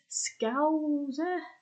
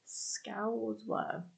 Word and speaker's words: Scouser: And this is pronounced Scouser, as in, wow. So that's basically a nutshell, really. So that's how you pronounce it, Scouser.